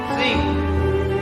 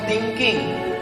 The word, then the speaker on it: think: Think, positive thinking. Berpikir, bukan thinking. Think. T sama H itu bacanya think.